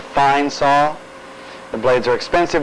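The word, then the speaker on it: Fein: 000 times per minute it's it's spelled f-e-i-n we refer to it as a fine saw the blades are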